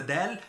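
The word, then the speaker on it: دال: So dawla is country, and you pronounce the dal the same way as you pronounce the d, dawla.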